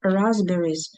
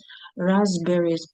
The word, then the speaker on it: raspberries: Raspberries. Raspberries. Пна читається.